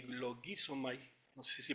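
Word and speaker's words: λογίζομαι: Entonces, esa palabra, consideraos, que es la que voy a enfocar aquí un poquito, viene del griego logizomai, con acento en la I, logizomai, no sé si pronuncia así, pero bueno.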